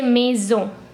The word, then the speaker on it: maison: where the n is basically nasal you want to say maison you will say meso me zone so our whole sentence